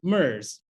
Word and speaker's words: MRS: you an example so the acronym for a managed resource which is a contractor which i was at the time is mrs uh they pronounce it mers i was also working